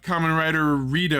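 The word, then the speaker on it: Kamen Rider: Then we have common rider is the way it's pronounced.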